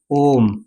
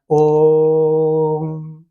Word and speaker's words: ओम: जैसे हमने कहा ओम, ये शब्द लिखा हुआ है, इसका उच्चारण कीजिए तो ओ को हम लंबा खींचकर तब इसका उच्चारण करते हैं, ओम, है ना?